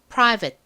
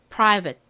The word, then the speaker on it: private: 읽기 쉬운 단어라고 말씀드렸죠 끝부분이 웨이트가 아니라 it 이렇게 발음 난다는 거 잘 기억해 주시고요 안 보고 마지막으로 적어